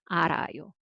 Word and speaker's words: 앓아요: And who followed by zero consonant, then sound cancels. So it's 알아요, but together 알아요. So 르 actually carry over. 알아요.